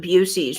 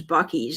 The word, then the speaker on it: Buc-ee's: You called it Busey's for the longest time. A lot of people do that because they don't know, but then I heard it was Buc-ee's, and I was like, oh, that's how that's pronounced.